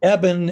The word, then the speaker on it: Eben: to many things but Ean that's how I usually pronounce it Ean like Evan right and it it originally came from eban six Generations ago they dropped the thank goodness so it's now just Evan but that's an easy way to remember the pronunciation it is and I